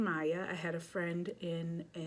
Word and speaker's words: Mia: And I know some people might say Mia. I am saying Maya.